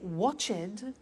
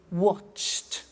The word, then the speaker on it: watched: are hard sounds now when we add the ed what happens is the pronunciation becomes t we don't say watch it we eliminate the e and we say watched okay interesting hey so